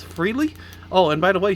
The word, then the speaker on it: Frehley: It looks like it's Freshly to me, but I think it's Ace Frehley.